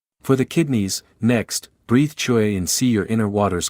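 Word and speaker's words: 吹: Chui, pronounced like chui with a forceful exhale, which is associated with the kidneys.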